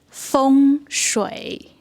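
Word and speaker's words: 风水: So I go to China and it's completely, the pronunciation is so different from feng shui. So Elaine's going to demonstrate for us. 风水，风就是 wind，水就是 water，对，风水。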